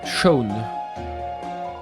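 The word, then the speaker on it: Seam: Mon nom est prononcé Shone.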